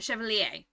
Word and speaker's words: Chevalier: Oh, Lier? Chevalier? Oh, a Chevalier. There we go. Okay, a Chevalier.